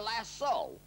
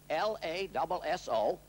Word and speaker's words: lasso: How is it that a cowboy can make a lariat or a lasso, L-A-S-S-O, often mispronounced lasso, how can a cowboy make the thing go in a circle, in a ring?